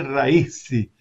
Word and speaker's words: Raisi: e também o Irã, a pronúncia do Ebrahim é um H com rim, o R do raiz é Raisi, o S é quase como se fosse dois S, Ebrahim Raisi.